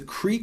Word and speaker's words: Qere: And we call this the Qere Ketiv. Qere is spelled kind of weird.